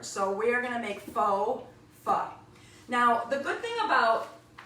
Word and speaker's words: pho: And we are gonna move onward to our Faux Pho. Now, pho is P-H-O, and it's very easy to pronounce it faux, and I've done it before too, but it's actually pronounced pho, F-U-H.